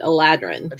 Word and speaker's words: Eladrin: Will Wheaton and Chris Perkins pronounced it Eladrin. Eladrin.